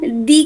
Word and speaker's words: the: দি এর উচ্চারণ THE, দি এর উচ্চারণ তখনই দি হবে যখন তারপরে ভাওয়েল থাকবে, আর দা হবে যখন সেটা কনসোনেন্ট থাকবে, সেটাকে আমরা দা বলবো।